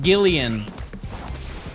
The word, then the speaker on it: Jillian: If it's a girl, Jillian, but we pronounce it Gillian because it has gills.